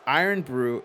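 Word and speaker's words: Irn-Bru: do it do it pronounced iron brew is like a mix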